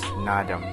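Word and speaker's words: Naadam: is also pronounced as sport while festivals is pronounced as nadam and is spelled like that in mongolian language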